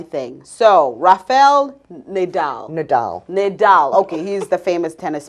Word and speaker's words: Nadal: make this another hmm I made another mistake pronunciation ain't my thing so Rafael Nadal Nadal Nadal okay he's the famous tennis player yes okay